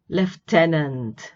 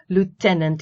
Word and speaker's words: lieutenant: disparate many different right leftenant leftenant is the british british pronunciation lieutenant is American Caribbean is British Caribbean